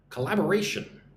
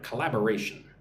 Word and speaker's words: collaboration: Let's look at the pronunciation of the word collaboration. Let's read it nice and slow. Repeat after me. C la B a. So, five syllables, but the emphasis on the second syllable, right?